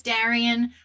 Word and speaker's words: Daren: yes my name is Daren like Maran with a d if you don't know me that is how you pronounce that um I have not